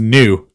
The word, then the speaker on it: nu: It's pronounced It's pronounced new.